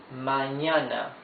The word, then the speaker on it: mañana: Mañana. Look at the spelling. M-A-Ñ-A-N-A. Ñ is this N with a wave on top, yes?